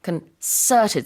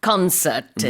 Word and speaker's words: concerted: And the stress is on concerted, so the second syllable, not concerted, right.